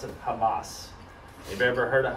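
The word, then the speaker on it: חמס: would more or less kind of pronounce it pronounce it Hamas have you ever heard of Hamas not just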